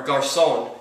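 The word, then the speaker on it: Garçon: can be somebody or Garson is how you say it Pier Garson would be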